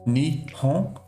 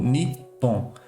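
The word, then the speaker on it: 日本: E outra coisa também é que os nomes japoneses, eles têm várias pronúncias. Por exemplo, essa palavra que tem aqui é Japão, né? Então pode ser lido Nihon ou Nippon.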